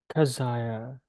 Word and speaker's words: Kazaya: My name, if you want to call me by that, is Kazaya. That is the closest pronunciation in your human languages.